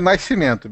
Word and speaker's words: Nascimento: Do Rio de Janeiro é Nascimento, bicho, não tem. O nome dele, a pronúncia correta, ele é carioca, é Nascimento.